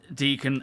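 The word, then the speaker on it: Decan: What you need to do is send deacon a friend invite.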